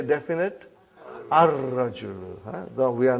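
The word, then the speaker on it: الرجل: Next one is ar-rajulu waqifun. Before we said al-waladu waqifun or al-mudarrisu waqifun. Those are all moon letters. Now we have sun letter ar-rajulu waqifun. Brother, as-sukkaru.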